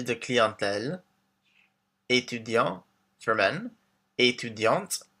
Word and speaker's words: étudiante: So we have professeur, informaticien for men, informaticienne for women, chargé de clientèle, étudiant for men, étudiante for women, the T pronounced at the end, artiste, artist, directeur for